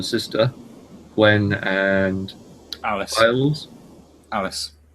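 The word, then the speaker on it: Alys: Alice. Alice. I think it's a Welsh spelling of Alice. I'm not 100% sure.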